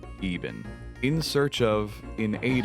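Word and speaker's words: Iban: This self-proclaimed son of Zamorak is actually called Even.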